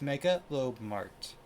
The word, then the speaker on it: Mega L Mart: is genetic oh Jesus told you how to say it's he said it's mega mega L it's Mega L Mart I see Mega L